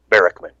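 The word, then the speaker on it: Barackman: On this particular issue, Bigfoot researcher Cliff Barrockman, is that how you say his name? Barrockman.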